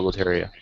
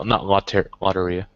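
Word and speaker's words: lotería: Like he went with me with the Loteria. Loteria. Is that how it's said? Loteria? Yeah, not Lotteria. Loteria.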